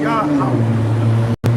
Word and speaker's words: Yahweh: in the Torah, when you read the name of God or the Lord, it's not Jehovah, it's Yahweh. Yah. Like they say, hallelujah. Yeah. Yahweh. Yeah. That's how you would pronounce it.